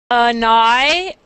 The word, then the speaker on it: annihilation: We say annihilation. Annihilation. Uh-huh. Okay. Mhm. The H. We don't really say the H too strongly in American English.